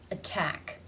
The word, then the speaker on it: attack: sound which is which the first word the stress falls on the second syllable which is begun with the T sound therefore it is a true T a real T sound attack attack in this second